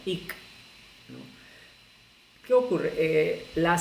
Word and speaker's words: hic: del verbo hacer es H-I-C, que se pronunciaría ic, ¿no? Siendo estrictos, ¿no? con la fonética del español, H-I-C se debe pronunciar ic, ¿no?